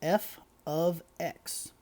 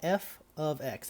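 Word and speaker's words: f(x): and this is pronounced f of x it's got an f with a parenthesis x in the middle but we say that out loud f of x that means a function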